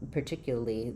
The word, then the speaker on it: particularly: Um question about if we can drop the L syllable in particularly. Um particularly uh no we can't um particularly. So that'll sound incorrect if you don't have that syllable. So in particularly the L A R can sound just like a lur particularly.